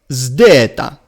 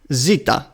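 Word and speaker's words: ζῆτα: Now, the first element is like the English word zone, but it must be combined with the D of dental. So it is zd, zdeta. That's the pronunciation.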